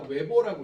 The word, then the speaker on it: 웨버: 이걸 우리가 바로 단위가 웨버라고 읽어. 웨버. W 빌어 쓰고 웨버라고 써.